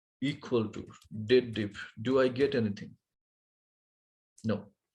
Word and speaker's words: DATEDIF: People pronounce it sometimes wrongly. They pronounce it as dated if. No, this is a date related formula. You must read as date diff, but it's a single F.